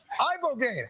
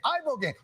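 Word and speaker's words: ibogaine: Eyeball gain. Eyeball gain.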